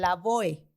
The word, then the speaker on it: Lavoe: de cómo se pronunciaba si hay dos formas la boe o la boeto porque es en español y ahí me sonaría lógico que es que incluso nombres extranjeros o bueno cuando son así Se tendría que pronunciar completo no y es la boe porque así se así se está escrito no con todas las letras pero entiendo que veces